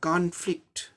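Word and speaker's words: conflict: सब चीज़ उच्चारण सेम रहेगा लेकिन स्ट्रेस की जगह चेंज हो जाएगा। स्ट्रेस सेकंड सिलेबल पर आएगा, यानी कि सेकंड सिलेबल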